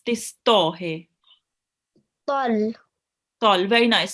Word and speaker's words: ط: So you will pronounce it with a thick and heavy sound, which means you will be rounding your mouth a bit. You won't be reading it like this ta here. So this ta, we will pronounce it ta, and the to here, it's pronounced with with your mouth rounded a bit.